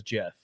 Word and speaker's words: Geoff: Okay, so he did pronounce it as Jeff. Yep. We make exceptions for the ones that pronounce it correctly.